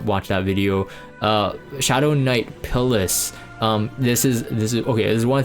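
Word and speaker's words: Pyllis: Shadow Knight Pillis. This is okay. There's one thing, it's either Pillis or Pillis. It's not Phyllis. Okay, there's no P there.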